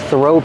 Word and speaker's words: throw: The th makes a voiceless sound. Just air.